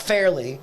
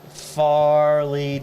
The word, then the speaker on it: Fairleigh: I actually put Fairly. It's not Fairly. No. Farley Dickinson.